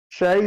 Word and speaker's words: Sheh: Sheh. S-H-E. Stephanie Shea? Shay, that's what I've also.